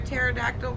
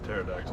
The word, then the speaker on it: pterodactyl: right i'm over this pterodactyl okay i guess the p is silent oh that's when you